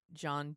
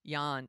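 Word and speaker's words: Jan: I pronounce it right John debont JN J deont Yan see I always get it wrong always and of course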